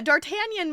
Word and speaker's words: D'Artagnan: Pretend the apostrophe isn't there. Okay. Yeah, D'Artagnan makes a lot more sense, but that just...